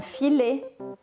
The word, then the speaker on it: filet: A pronúncia sempre aqui é diferente. Baguette, baguette. Filé, un filet.